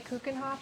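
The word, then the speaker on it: Keukenhof: Like David Hasselhoff. David Hasselhoff. Kuchenhof. Yeah. It's like that.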